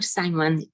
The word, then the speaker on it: Simon: It is Simon or Simon?